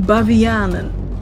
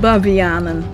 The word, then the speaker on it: Bavianen: Remonstrants were initially called mouth beggars, referring to their blasphemy, but eventually got the name Bavianen, baboons. Mainly because Arminius' followers in Dutch were called Arminianen. Arminianen, Bavianen, it rhymes.